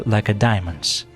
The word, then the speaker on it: Lacedaemons: They were Lacedaemons, in honor of the city with the same name. Even experienced historians sometimes mistakenly stress the last syllable.